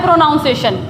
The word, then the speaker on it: pronunciation: शी पर जो है यहाँ स्ट्रेस दिया जाता है, प्रोनाउंसिएशन, प्रोनाउंसिएशन।